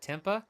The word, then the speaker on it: tempeh: It's pronounced like tempeh. Oh, tempeh.